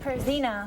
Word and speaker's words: Pierzina: How is it? Pierzina. Pierzina. You were close.